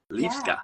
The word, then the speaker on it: Liwska: Actually, the W in European languages is pronounced as V. Liwska.